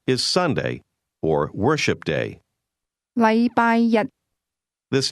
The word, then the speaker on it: 禮拜日: The difference is that the word one used with Monday is pronounced with a high level tone, while the word day is pronounced with a low level tone.